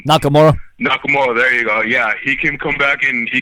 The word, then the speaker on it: Nakamura: then maybe um shinsuke or his I can't pronounce his name right Nakamura Nakamura there you go yeah he can come back